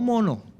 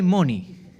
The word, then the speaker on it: money: Dígale que está a su lado, Money, no mono, no. Dígale Money. Se pronuncia Money.